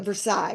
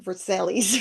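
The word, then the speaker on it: Versailles: And so if you're trying to read it and you don't have someone pronouncing it or telling you like as like like versail, right? People will say like verselis or something like that's how it looks like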